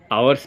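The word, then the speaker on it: hour: देखिए आवर्स पिछले क्लास में मैं आपको बहुत अच्छे से बताया था, इसको हम हावर नहीं पढ़ेंगे, क्या पढ़ेंगे, आवर।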